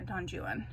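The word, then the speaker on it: Don Juan: than just them um then I read uh donjuan which is how you pronounce it he pronounced it the English way at least in this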